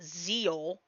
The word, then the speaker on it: Zexal: I believe it's actually pronounced Zeal, despite the fact it's spelled Zexal. It's pronounced Zeal.